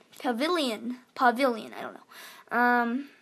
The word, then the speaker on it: Pavilion: actually pronounced it wrong it's not pavalon it's a pavilion pavilion pavilion i don't know